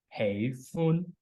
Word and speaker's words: 喜歡: Like in Cantonese is a two-syllabic word, including the first syllable as hey, and the second as fun. Hey is a mid to high tone, and fun is a high tone. Hey fun, hey fun.